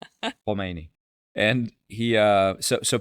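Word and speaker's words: Khomeini: So comes from the back of the throat. Humeni.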